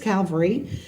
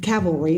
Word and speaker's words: cavalry: this is the sixth calvary um cavalry i don't want to say it wrong cavalry they have been doing